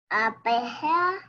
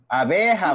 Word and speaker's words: abeja: Abeja. Abeja, muy bien.